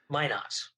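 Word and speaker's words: Minot: in North Dakota but m i n o t may not may not okay see I would pronounce it the French and that would be not at all not at all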